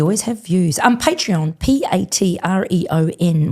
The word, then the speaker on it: Patreon: Um Patreon, P A T R E O N. When people say it quickly, uh it can sound different to actually how it's spelled. So, Patreon.